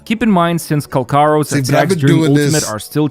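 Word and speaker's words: Calcharo: So here's the thing about Kolcharo. Apparently his name is actually pronounced Kalkaro.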